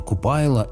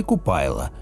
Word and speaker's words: Купайла: Купала, верное произношение Купайла или Купайла, древнеславянское солярное божество, олицетворяющее собой апофеоз активной творящей энергетики солнечного света.